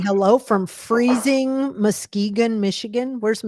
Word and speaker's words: Muskegon: So Well, here's someone from Michigan saying Mm, hello from freezing Muskegon, Michigan. Where's yeah. Muskegon?